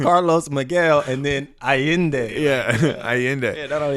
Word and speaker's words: Allende: Carlos Miguel Yeah, Allende. because it's Carlos Miguel and then Allende.